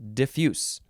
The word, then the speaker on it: diffuse: the synonym is diffuse diffuse yeah you think you would emphasize the second syllable diffuse uh specifically spread out